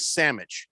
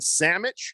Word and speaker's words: sandwich: and by the way the pronunciation is sammich i don't care what